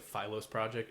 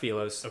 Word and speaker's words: Philos: In my in my intro, I think I said the Philos is it Felos? Yeah. So, it's pronounced Felos.